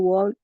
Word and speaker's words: walk: to walk in the park. Okay, walk. Uh, We don't pronounce walk the L.